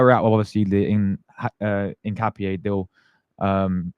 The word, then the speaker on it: Hincapié: I think my guy Nikico's in the chat in capier. Incapier. There we go. Incapier. So you don't say the H, you say in like you you pronounce it in capier. Incapier.